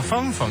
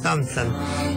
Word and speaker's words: Thompson: Emma Fonfon, dijiste. Emma iPhone, que es la inventora del teléfono. Pronunciar correctamente. Bueno, dice TH, Emma Thompson.